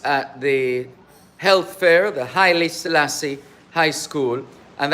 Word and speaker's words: Haile Selassie: the health fair, the Haile Selassie High School, and that's how it's properly pronounced. Not Haile Selassie, but Haile Selassie.